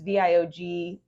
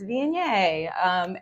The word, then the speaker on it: Viognier: So like Viognier, a lot of people don't understand Viognier because it's Viogner, like Vigo. Yeah, it looks like yeah. Vogner, but it's not. It's Viognier. And also like sommelier.